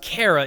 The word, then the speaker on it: Chara: Yes, it is pronounced "Cara", if 8-4's official localization has anything to do with it.